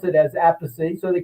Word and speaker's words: Appice: And of course, Carmine became famous, and they couldn't pronounce it as Appice, so they called him Carmine Appice. So that's how we get three pronunciations. Appice is a family pronunciation.